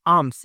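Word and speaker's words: alms: होता है मांगने और आम्स इसको आर्म नहीं बोलेंगे एल साइलेंट रहेगा आम्स यानी भीख न जब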